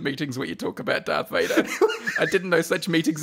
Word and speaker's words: Darth Vader: and said that for many years they thought darth vader was dark vader yeah i've heard that mispronounced before by someone in a meeting and